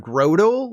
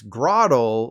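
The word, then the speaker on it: Grotle: that was a mistake instead of Grotto like a growing Turtle it's Grotto like a rotting Turtle I guess I don't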